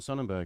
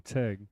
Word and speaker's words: Sonnentag: I read his name, John Sonnenberg, and you said I pronounced it wrong. Sonnentag. Yeah, right.